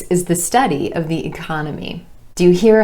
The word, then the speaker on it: economy: So for example, economy, economy, emphasis on the second syllable and the ah vowel sound, changes when we add the IC ending and becomes economic, economic.